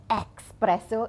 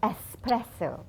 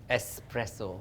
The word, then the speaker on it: espresso: and by the way the pronunciation right it's not expresso it's espresso espresso okay espresso yeah it's